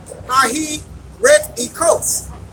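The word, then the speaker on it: αἱρετικός: It's G141, and it's pronounced Hahi Ret Ekos, and it reads, fitted or able to take or choose a thing, schismatic.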